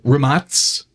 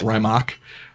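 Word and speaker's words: Rimac: here um so uh remats which is a the correct pronunciation or you'll hear a lot of people call it rymock remotes is set 23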